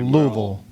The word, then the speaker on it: Louisville: Louisville or Louisville? Well, you have to say it like you have marbles in your mouth. Okay, Louisville.